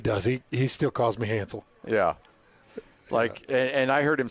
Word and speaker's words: Hance: But it's easy as just texting Hans to 57500. And that's spelled HANCE.